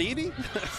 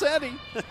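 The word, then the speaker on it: Eddy: And when I was getting pronunciations from Coach Hannon, I'm like, that's not Edie? No, that's Eddie.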